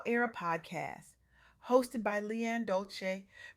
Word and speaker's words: Dolce: Welcome to the Softgirl Era podcast hosted by Leanne Dolce, pronounced dolce, like sweet softness whispered in French.